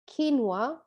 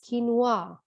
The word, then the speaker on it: quinoa: very high nutritional content the british would like to pronounce it as quinoa and the americans quinoa this word is again